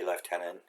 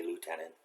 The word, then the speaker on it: lieutenant: Major Boyington and Second Lieutenant I'm Canadian, I say Lieutenant, Americans say Lieutenant.